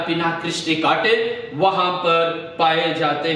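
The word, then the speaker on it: Spina Christi: है इन कांटों का पिना क्रिस्टी। पिना क्रिस्टी नाम के ये कांटे हैं और इसका इंग्लिश में स्पेलिंग ऐसा है, S जो है वो साइलेंट है, PINA, पिना, और क्रिस्टी CHRISTY, क्रिस्टी। ये जो पिना क्रिस्टी नाम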